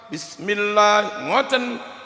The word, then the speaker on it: Bismillahirrahmanirrahim: Cara membaca bismillah yang benar adalah 'ba' dengan kasrah (bi) diikuti oleh 'sin' dengan sukun. Seharusnya Allahu Akbar. Bismillahirrahmanirrahim.